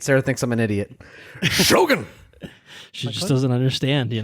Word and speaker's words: Shōgun: Shōgun! So say it like that. I said it earlier, and I was like, why are you saying Shōgun like you're saying Logan?